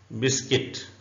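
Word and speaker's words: biscuit: silent है गड का मतलब होता है चौकीदार बिस्किट you silent बिस्किट Urdu में ऐसे लिखेंगे और इसका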